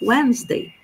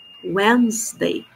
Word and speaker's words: Wednesday: Então, palavras em que a pronúncia é mais curta que a grafia.